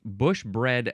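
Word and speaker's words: bush-bred: Now we have, so it's bush bread again. That's how it's pronounced, but it is spelled bush hyphen B-R-E-D. Bread.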